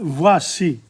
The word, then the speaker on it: voici: Me voici. Have a look at voici. Georges entrant, entrant. Me voici. O-I in French is voix. Voix. Voix. The C is actually C. Voici, not che.